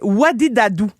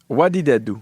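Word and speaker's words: Wadidadu: Puis sa chanson, elle s'écrit W-A-D-I-D-A-D-U. Fait que ça fait Wadidadou. Wadidadou. Donc, What did I do?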